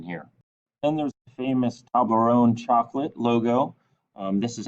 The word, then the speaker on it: Toblerone: then there's the famous toblerone chocolate logo um this is actually a company from switzerland so you say that toblerone because it's in french and what's kind of